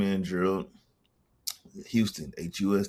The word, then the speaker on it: Huston: People always say my name wrong. They always say Hust and Hudson and all this other Right. True. Houston. Houston. Yeah. Like the city down in Texas.